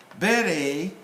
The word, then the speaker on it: beret: British will stress on the first syllable, American on the second one. Beret, beret, just like that.